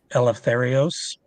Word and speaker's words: Eleftherios: um our second individual I think it's pronounced um eleftherios that would be how I pronounce it um his wife